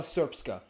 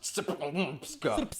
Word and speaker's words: Srpska: And the Republika Srpska. I know it looks like it's pronounced Srpska.